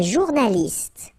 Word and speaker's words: journaliste: Un journaliste. Same thing here. You know, final only gives you the T.